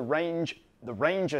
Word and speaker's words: RangeIR: I happen to shoot a lot of wildlife, and this is the Ranger system. It's spelled RangeIR because it's an infrared retroreflective system.